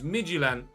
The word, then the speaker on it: Midtjylland: Midtjylland is how you pronounce that.